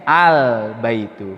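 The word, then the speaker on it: البيت: Baik, sehingga membacanya al. Jelas ya lamnya ya. Al-baitu.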